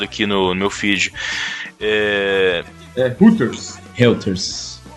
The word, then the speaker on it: Reuters: no meu filho a reuters não se pronuncia roters r 3 mas é reuters descreve reuters&lt roxas nas